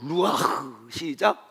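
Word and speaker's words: רוּחַ: 루아흐, 시작. 이 가래가 좀 끓어야 된다고. 거스럴스 발음이라고 이런 거 있잖아요.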